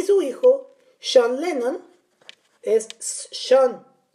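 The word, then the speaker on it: Sean: hijo John Lennon es son se escribe este ya sé que se escribe s e a n pero se produce a donde vivían y ella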